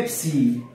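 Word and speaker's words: Ⲯ: الحرف ده اسمه ايه؟ ابسي وينطق ابس.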